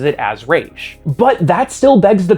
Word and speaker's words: Resh: Well, the 20th letter of the Hebrew alphabet, Raysh, is pronounced this way.